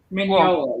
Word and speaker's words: Mignola: or mignola yeah isn't it isn't a g like silent i think i i don't know uh you know him i don't know him maybe i've always been vanilla right yeah it is it is silent it's mignola yeah yeah okay just